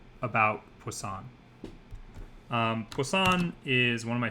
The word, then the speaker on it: poisson: interesting relationship there uh so poisson it's spelled like poison with two s's it you can think about this as meaning fish right poisson i believe is fish in french and one of the